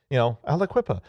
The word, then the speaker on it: Aliquippa: Aliquippa. But Aliquippa's in Pennsylvania, and and we'll see how many times I typed that when I was writing the script, but it's the Municipal Water Authority of Aliquippa confirmed that someone managed to take control of